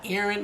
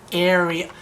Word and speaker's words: Ariane: It's not Aaron. Like, I think K. Michelle said it's Ariane. Correct? Not really. Ariane.